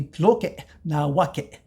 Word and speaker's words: Tloque Nahuaque: Well, and again, we need that saltillo to pronounce it correctly from the classical. So it would be Tloque Nahuaque.